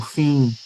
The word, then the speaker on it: fim: Como em palavras como fim. Então, percebam que tem um M ali que não é pronunciado como um som isolado, né? ele é produzido eh com um i nasal inim.